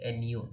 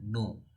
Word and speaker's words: nu: by small V and we'll pronounce it as Nu new is equal to N